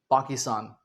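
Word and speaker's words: Pakistan: देश है in fact पाकिस्तान British English में हम इसे क्या बोलते है पाकिस्तान बट अमेरिकन इंग्लिश में इसे क्या कहेंगे? पहली बात तो यह जो पा है इसे अमेरिका वाले यूएस वाले पा नहीं बोलेंगे इसे पै बोल देंगे अक्सर क्या बोल देंगे पै अक्सर और स्टान स्तान को वो बोल देंगे स्टैन तो वो बन गया पैकीन आपने देखा होगा जब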